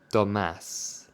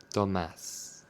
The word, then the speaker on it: Tomás: Well, in Spanish it's Tomás. Tomás.